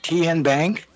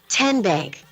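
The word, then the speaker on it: TNBank: How do you say the name? Kien Bank? Nope. Kin Bank. Uh-uh. So, what is it? 10 Bank. 10 as in Tennessee.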